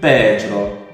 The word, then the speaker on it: Pedro: In Portuguese, it is quite similar to the Spanish name. However, the pronunciation is slightly different. I would say Pedro. Pedro.